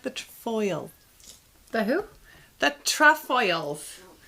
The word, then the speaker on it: Trefoils: The trefoils. Or as you would pronounce them, terrafoils.